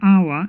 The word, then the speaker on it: hour: I'm why do you we say an hour instead of our because our H is silent and therefore the first the first sound